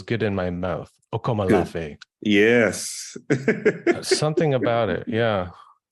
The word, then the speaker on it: Akomolafe: Akomolafe.